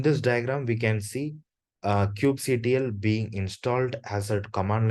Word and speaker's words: kubectl: Coming to the next question, what is kubectl? Or it can also be pronounced as kubectl.